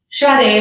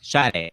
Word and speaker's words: Sade: Sade, like the singer. Sade.